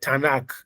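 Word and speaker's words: Tanakh: So, biblical scholars will will call it Tanak. T N K. But to pronounce it, they will put the a vowels in there to pronounce it tanak.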